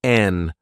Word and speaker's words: and: as chalk and cheese notice the pronunciation of and in this phrase I drop the D sound and say n chalk and cheese we call chalk